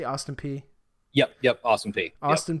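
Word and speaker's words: Austin Peay: Austin P before that is how you say Austin P yup yup awesome fee Austin P before that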